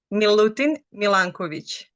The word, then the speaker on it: Milutin Milanković: So how do you pronounce this man's name? It is Milutin Milanković.